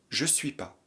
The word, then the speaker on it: je suis pas: En français familier, on ne prononce pas ne. Et donc on dira je suis pas.